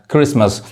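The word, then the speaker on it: Christmas: समझ में आ रहा है, क्रिस, ये टी नहीं पढ़ाता है, क्रिसमस।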